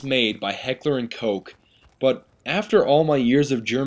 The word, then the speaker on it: Heckler & Koch: if Heckler & Koch, it should be pronounced Heckler und Koch, like Heckler und Koch. Because I feel like that O-C-H, it's not a Koch, it's, you know that like Doch, Hoch, like, I feel as if Heckler